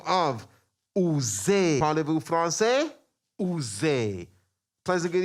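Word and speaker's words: Oozie: Double O-Z-I-E, it's not, it's Uze. Say it like you're French.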